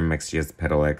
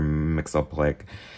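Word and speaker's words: Mxyzptlk: fun Mr mixia's pedalex story um or mix uplick however you want to pronounce it I'm going based on John Burns um written pronunciation mix yes pedal lick it's like you kind of pronounce every single letter interesting art you definitely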